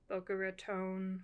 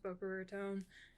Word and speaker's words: Boca Raton: so it's about her growing up in Boca Raton Florida I think that's how it's pronounced Boca ratone and it's about Sochi